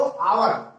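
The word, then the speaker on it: hour: जिन शब्द में या कहीं जिन शब्दों में एच साइलेंट, जैसे देखो आप बोलते हो आवर, लिखते हावर एंड आवर।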